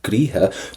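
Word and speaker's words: gcroíthe: A gríthe, don't pronounce the TH.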